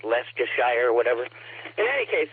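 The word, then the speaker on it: Leicester: like all those other British town names, Lyster, which is like Lester or whatever.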